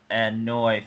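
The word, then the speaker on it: Anoa'i: have been exiled from the annoy family that's how you pronounce it yeah i know a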